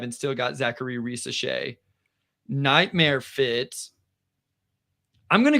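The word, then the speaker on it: Zaccharie Risacher: I'm just curious, and I hope I don't mispronounce his name. Zachary Risachet?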